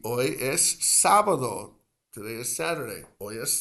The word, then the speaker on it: sábado: Sábado, which is the word for Saturday in Spanish, that has the accent over the first A. Sábado. Hoy es sábado.